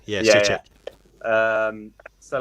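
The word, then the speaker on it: Souček: Is that how you pronounce his name? Soucek. Yeah, Soucek.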